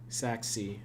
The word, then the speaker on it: Sachse: of the tadpoles there Sac sea uh yes it is uh pronounced that s-a-c-h-s-e it is with a German accent it's named after Saxony